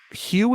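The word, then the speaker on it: Huw: Hugh is spelled H U W if you can believe that.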